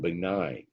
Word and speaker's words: benign: And benign is how that's pronounced, means not cancerous.